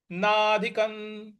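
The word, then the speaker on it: नाधिकं: हम आघात देंगे मन्यते नाधिकन नाधिकन यहां जो नाध क के ऊपर जो अनुस्वार है उसके आगे त है इसलिए वहां पे न का उच्चारण हम लाएंगे तो नाधिकन नाधिकन इस प्रकार बोलेंगे ततः ततः ह जो त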